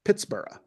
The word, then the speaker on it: Pittsburgh: Being a Scotsman, Forbes most likely gave Pittsburgh the Scottish treatment and pronounced the founded city like Edinburgh, so it would have sounded something like Pittsburgh, not Pittsburgh, Hmm. when it was first founded.